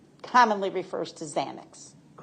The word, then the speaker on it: Xanax: fields, you know that people commonly think it's really spelled with a Z. That's correct. Because of the pronunciation. Yes. Okay. So, a Z commonly refers to Xanax.